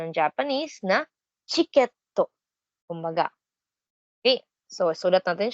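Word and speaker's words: チケット: again yung ticket okay ay may version sa pronunciation ng Japanese na chiketto kumbaga Okay so isulat natin siya in katakana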